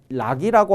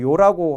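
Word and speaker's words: 樂: 있습니다 또 하나 이제이 문장을 이해할 때요 글자를 락이라고 하지 않고 요라고 한다는 것이에요 저 글자는 음이 세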